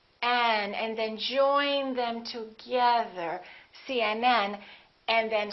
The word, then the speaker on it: CNN: example cmn UCLA PhD the rule is we stress the last letter of an abbreviation for example CNN UCLA PhD let me